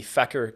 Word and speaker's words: Feker: it over to the fecker key caps I think that's how you pronounce it it's f EK ER fecker i think so these things